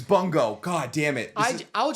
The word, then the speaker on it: Bungo: on Bongo stray dogs I just alternate pronunciations between Bongo and Bongo boom goes wild I never doubled down on a pronunciation it is very much boom go I don't know I hear it's boom go get out of my that's what I've heard oh God isn't it